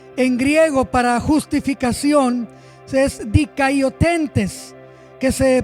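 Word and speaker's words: δικαιωθέντες: La palabra en griego para justificación es dikaiotentes, que se pronuncia dikiotentes, que quiere decir un legítimo favor para el hombre.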